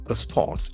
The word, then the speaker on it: response: an answer or reaction response lacks and force on the second syllable there are two syllables response onward emissions O M I S S I O N.